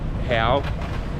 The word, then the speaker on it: real: Brazil is the Hal it's spelled like a real but they pronounce it Hal and I'm sure I'm